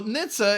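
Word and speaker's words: NHTSA: how it's pronounced which sounds more like a Jewish holiday dish rather than the government organization this is delicious just gets into your teeth a little anyway so Nitsa has finally stepped in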